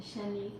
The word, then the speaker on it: Shanique: Do use my code Shanique10 for $58. Did you know I give my daughter your name, but it's written Shanique? Oh, love it. It's spelled Shanick, Shanique.